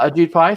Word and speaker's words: Ajit Pai: Ajit Pai, thank you.